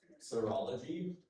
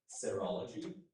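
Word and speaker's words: serology: Of course, corology also pronounced cerology.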